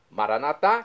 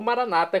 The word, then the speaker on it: Maranatá: E agora eu clamo, Maranatá, do dialeto de Jesus, o aramaico. Maranatá, com a tônica na última sílaba, como dizemos nós católicos, ou maranata, como dizem nossos irmãos das comunidades evangélicas ou protestantes, nossos irmãos separados.